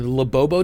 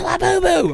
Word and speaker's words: Labubu: But, which I always say the fucking name wrong, but the Labobo dolls, Labubu? yeah, okay. Yeah, my 4-year-old, every time I say it, she's like, "It's Labubu." I'm like, got it. But She can't say it right either, so she says Labobo.